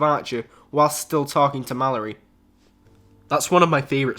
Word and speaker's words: Mallory: body in her house but how did the mandali it's Mallory yeah there was never a doubt in my